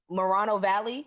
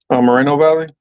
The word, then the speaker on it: Moreno Valley: the paradise fire uh Morano Valley is that how youed pronounce that Moreno Valley Moreno Valley uh Fremont Fresco that's